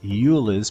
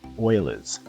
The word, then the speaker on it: Euler's: Looks like it says Euler's, but it's actually pronounced Euler's.